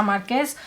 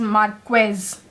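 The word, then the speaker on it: Márquez: You are not going to pronounce it as Marquez, it's Marquez, like pretend that there's a K over there, and it is Marquez.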